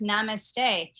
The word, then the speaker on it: Namaste: Mama says Namaste, is that what it's pronounced? Yes, Mama says Namaste.